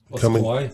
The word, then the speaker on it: Kauai: Waimea Bay on the island of Kauai. Kauai? Okay, my bad.